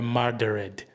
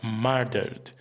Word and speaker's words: murdered: atenção ao fato de não é murdered, but murdered, sem que o último é seja pronunciado com muita força, porque é muito e que já é diferente na palavra assassinated.